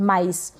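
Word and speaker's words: mice: माइस मतलब चूहे, यानी कि माउस का प्लूरल होता है, बहुवचन, माइस, ठीक है। और यहाँ पर भी सी के बाद में ई आ रहा है, इसलिए हमने सी को स प्रोनाउंस किया।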